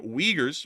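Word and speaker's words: Uyghurs: may know is that the Wagers which is how this is pronounced I know a lot of people are like what that's actually how they're pronounced uh but the Wagers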